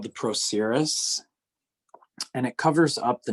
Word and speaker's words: procerus: top of the nose and it's called the procerus and it covers up the nasal bone so